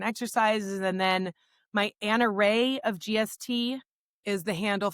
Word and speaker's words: Rahe: So Anna Rahe, and I'll just tell the people, and they'll get this in What the do you show do with the notes. It's vacuum? pronounced Rahe, like ray of sunshine, and it's spelled not Ray.